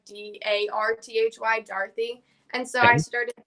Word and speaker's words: Darthy: that the traditional pronunciation since it's an english name it's actually pronounced like d-a-r-t-h-y dorothy and so i started